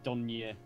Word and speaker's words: Donji: Right, that's so clearly like Donya. Donya Kranjir or whatever.